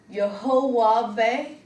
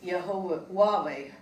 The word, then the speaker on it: YHWH: And in fact, in Hebrew, you're not to speak the YHWH, which is pronounced Yehovah, out loud, because they felt they may prevent further revelation from God.